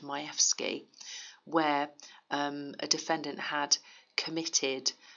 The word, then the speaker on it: Majewski: Director of Public Prosecutions case of Majewski or where I'm told is pronounced Majewski where a defendant had